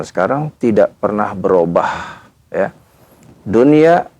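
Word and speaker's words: دنيا: Dunia dibaca dunya ya bunyan dibaca bunyan.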